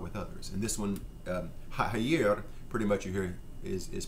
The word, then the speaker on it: haïr: Talk about this word, haïr, the pronunciation haïr, which is different from international French, haïr, and is the word we use to hate.